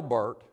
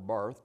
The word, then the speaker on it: Barth: with dietrich bonheoffer and Karl Bart or Barth depending on who pronounces who were the the